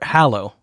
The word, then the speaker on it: Hallow: So, or Hallow is how you, Hallow. yes. As you really pronounce it. It's hallow.